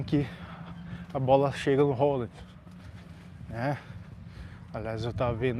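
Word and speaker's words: Haaland: a bola chega no Rollen, né? Aliás, eu tava vendo isso aí que essa é a pronúncia certa, né? Aqui a gente fala Hallanden, mas só que uma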